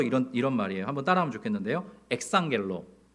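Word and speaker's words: ἐξαγγέλλω: 엑상겔로. 발음이 좀 어렵죠.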